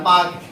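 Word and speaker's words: Palk: देखन स्पेलिंग ये है हमने इसको गलत बढ़ना शुरू किया पी एल ए क्या है पलग नहीं पढ़ना पाक पाक बे बोलते इसको पाक की खाड़ी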